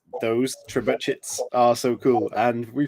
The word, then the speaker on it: trebuchet: She says trebuchet, so like ASMR for the ears.